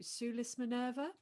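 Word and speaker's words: Sulis Minerva: correct me if i say this wrong to sue lis minerva that is right yes that's the correct pronunciation thank goodness for these latinate languages um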